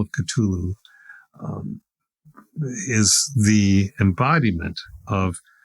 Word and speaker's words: Cthulhu: It's pronounced Cthulhu. Cthulhu.